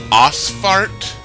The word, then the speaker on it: Ausfahrt: right, because it comes off a little juvenile, Ausfahrt. Ausfahrt. A-U-S-F-A-H-R-T? Yeah, it's Ausfahrt pronounced.